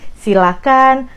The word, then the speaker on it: silakan: dulu Ini dari pronunciation-nya jangan pakai h itu yang paling penting Jadi silakan persilahkan jangan pakai h